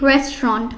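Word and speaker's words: restaurant: ঠিক আছে তাহলে কি হবে বলো the correct pronunciation will be রেস্ট রন্ট কি রন্ট রেস্ট রন্ট যতবার তুমি সঠিক উচ্চারণ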